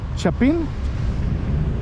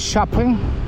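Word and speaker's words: Chapín: So Chapin is C-H-A-P-I-N, Chapin. You may pronounce it shopping or shopping, but it's Chapin, okay?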